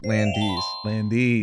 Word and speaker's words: Landes: Landese. It's like Buc-ee's, but like land. Yeah. Ease.